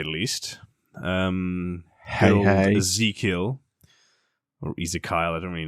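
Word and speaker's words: Ezekyle: say that Ezekiel yeah it's just spelled weird isn't it like I guess yeah but it's definitely Ezekiel he was always going to fall to chaos with a name spelled like that yeah Ezekiel abdon or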